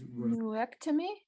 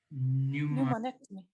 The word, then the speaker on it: pneumonectomy: have his lung removed or Which one means neurectomy. yes, I see. Acme, Is that how you pronounce it? Neurectomy? Pneumonectomy. pneumonectomy. Yep. Is pneumonic, pneumonectomy. Pneumonectomy.